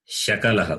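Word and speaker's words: शकलः: Sakalaha, Shakalaha. Both are different. So meanings are also different. Sakala is different. Shakala is different. Sakala is everything. Shakala is parts. So if you change the pronunciation, the meaning will change.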